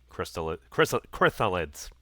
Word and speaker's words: Chrysalid: Chrysalids. That one. Chrysalid. It's pronounced chrysalid.